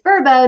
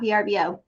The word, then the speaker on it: Vrbo: wrong this whole time it's verbo not vrbo but i'm going to